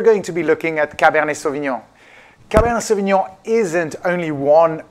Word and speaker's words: Cabernet Sauvignon: pronounce cabernet sauvignon we're going to pronounce it the French Way cab air knee cabanne so we know it's a hard one to do to build like neon cabernet sauvignon cabernet sauvignon originally comes